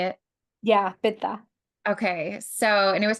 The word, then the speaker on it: pitta: So I did your quiz and I found out I'm a PETA. Is that the right way to say it? Yeah, pitta.